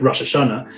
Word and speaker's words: Rosh Hashanah: very Uber conservative so we don't use the um the modern Hebrew pronunciation we'll use the uh what's called the Ashkenazi pronunciation so we'll say something like Rosh Hashanah which is grammatically a nightmare but it's actually the way the Jews said those words uh for you know